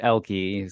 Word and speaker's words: Ehlke: It's Elke, spelled Ehlke.